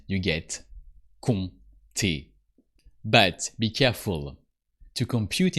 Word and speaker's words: compter: Compter. But why a silent P in the middle of compter?